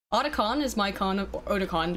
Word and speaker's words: Otakon: Sean Haruki for 2 says, Otakon is my con of, Otakon is how it's actually pronounced.